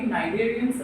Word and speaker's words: cnidarians: Next to আমাৰ কওঁগা আমি cnidarians or coelenterata. ঠিক আছে cnidaria বা coelenterata. এই নামবোৰ চাবা না C টো ইয়াত pronounce কৰা নাযায় ঠিক আছে cnidarians coelenterata